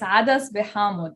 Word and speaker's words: Adas bi Hamod: It's adas behamod in Arabic. Adas behamod. Okay. Adas for lentil, hamod for citrus.